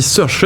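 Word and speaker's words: Saoirse: actrice anglaise se Ronan j'ai cherché comment on prononce ça s'écrit d' manière très bizarre sa mais en fait ça se dit seche c'est un prénom irlandais film est magnifique et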